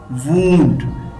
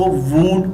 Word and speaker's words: wound: इसको wound pronounce नहीं करना, ये रॉन्ग होगा। इसकी करेक्ट प्रोनाउंसिएशन है wound, like WOOND। वैसे ये इसकी करेक्ट स्पेलिंग नहीं है लेकिन मैं आपको प्रोनाउंसिएशन के लिए बता रहा हूँ। इसको वाउंड प्रोनाउंस नहीं करना, इसको वूंड प्रोनाउंस करना है।